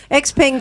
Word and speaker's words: Xpeng: So I think the article missed out something, which is how to pronounce Xpeng. Oh, Oh, it's bung, oh, is it? It's Xpeng.